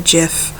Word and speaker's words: gif: caught naturally aluminum gif I know the Creator calls it a jiff I will never call it a jiff it is always gift